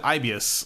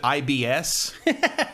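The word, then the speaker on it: Aibius: Also, the name of the company is Ibius, and you're supposed to pronounce it Ibius like that, but some of the voice actors pronounce it IBS.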